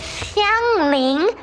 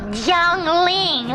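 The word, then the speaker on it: Xiangling: It is Xiang Ling, not Zhang Ling, okay?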